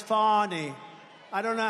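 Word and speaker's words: Fani: have to pronounce it fonny it's called Fanny you have to pronounce fonny I don't know how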